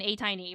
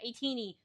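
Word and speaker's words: ATINY: need to become an A-tiny right now. A-teenie. Sorry. I see it in my brain how it's spelled. I'm like, oh, A-tiny. It's A-teenie.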